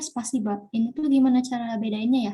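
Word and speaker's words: спасибо: Bisa kayak spasibo kan, tapi kita bacanya spasiba.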